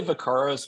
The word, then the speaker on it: Vakaros: So We say Vakaros. We did, about 5 minutes of Googling to try to figure out if that was really the right way to say it or not.